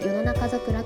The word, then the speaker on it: 世間桜: 世間桜と書いて与野中桜と呼びます。